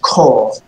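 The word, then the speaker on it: כָּל: tradition from your teacher this word is pronounced coal okay yeah yeah so car so it's cold it's not call it's coral Coral yeah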